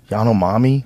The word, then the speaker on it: Yanomami: Yanomami? Yeah, the Yanomami.